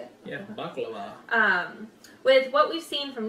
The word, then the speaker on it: baklava: Yeah, baklava.